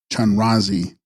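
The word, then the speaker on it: Chenrezig: Text Span Ras Ziggs pronounced Chanrazi Sanskrit Avalot Devara downlooking one the embodiment of mercy or compassion.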